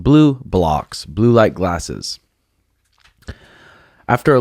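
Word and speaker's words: BluBlox: Pronounced Blue Blocks, blue light glasses.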